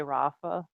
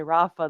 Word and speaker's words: Rafa: And there is an ah sound in British English. I don't know why they can't say Rafa. They always say Rafa, and it's just like it's a simple name.